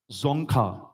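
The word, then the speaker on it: Dzongkha: the indigenous language of which Asian country is zonka the indigenous language of which Asian country is zonka it's spelled d z o n g k h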